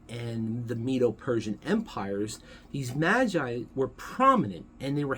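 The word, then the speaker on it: μάγοι: The plural is magoi, which is where we get the term magi from. We pronounce it magi, the Greeks pronounce it magoi.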